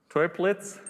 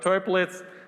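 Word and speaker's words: Toeplitz: matrix has a name it's called triplets sounds like a german name maybe there's a better pronunciation but toy blitz is named after auto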